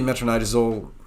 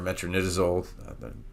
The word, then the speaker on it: metronidazole: route is used really metronidazole or metronidazole different pronunciations is one of the drugs